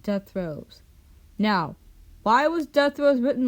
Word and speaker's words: Dethroez: It is pronounced as death rose, which is including the description and author's note.